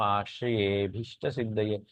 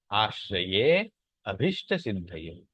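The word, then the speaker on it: आश्रयेऽभीष्टसिद्धये: एस लिखा हुआ है उसे अवग्रह कहते हैं। वो उसका थोड़ा लेंदी उच्चारण करना होता है। आश्रयेभिष्ट सिद्धये, नहीं तो उसको तोड़ के किया जाए आश्रये अभिष्ट सिद्धये।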